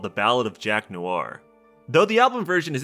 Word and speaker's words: Noir: that's Toby singing also I didn't know Noir wasn't two syllables so the song is